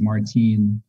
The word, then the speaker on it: Martin: And the last name is Martin. It's pronounced like Martine, right?